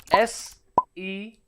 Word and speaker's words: Sean: My name is Sean, that's spelled S-E-A-N. Sean.